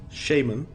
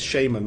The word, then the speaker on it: shaman: The narrator says, shaman, the right way, and I was like, it's stuck. And then it said on the Mighty Boosh, yeah, it's shaman, not shaman.